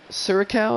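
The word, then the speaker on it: Curaçao: Profar signed out of Curacao.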